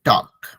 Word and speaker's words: talk: टॉक, TLK, L silent है, टॉक।